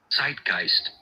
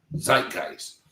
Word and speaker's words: zeitgeist: The word of the day is, and before I even attempt to try to uh say it, zeitgeist. Zeitgeist. Zeitgeist is spelled.